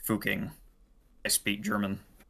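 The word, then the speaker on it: Fucking: It's pronounced fuking. Yeah, is a place in Austria. Yeah, so it it it's fuking.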